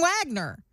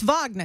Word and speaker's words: Wagner: confess which everybody knows I'm not pronouncing that word the Russian way I'm saying Wagner but it's Wagner isn't it yeah I mean it's Wagner that's the that's the Russian way to say it yeah yeah it's a